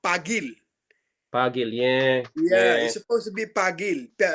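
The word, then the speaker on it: Paguil: actually uh he don't you don't call it pangil you know it's called pagil pagil yeah yeah be pagil p-a-g-u-i-l but uh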